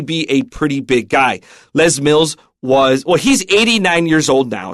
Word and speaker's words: Les Mills: So Les, you might think it's Les because it could be short for Lester, but they pronounce it Les Mills.